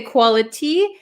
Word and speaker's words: quality: quality we can say quality but this tea is surrounded by two vowel sounds so this becomes a flap T right Quality quality quality